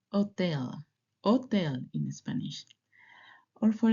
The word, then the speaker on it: hotel: This letter is silent in Spanish.